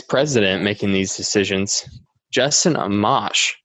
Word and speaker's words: Amash: making these decisions Justin Amash am i pronouncing his name correctly I am right Justin Amash sure Justin a mash is this is it a monitor tomahto Amash alright good he he made history